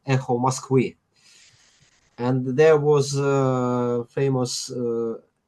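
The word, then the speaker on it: Эхо Москвы: Uh, in Russian, it pronounces like Echo Moskvy, and there was a famous radio DJ.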